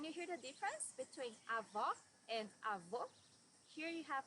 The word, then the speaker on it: avó: Avó, grandmother. Here you need to hear the sound of the last O in the syllable. It should be an open O, as we say in Portuguese.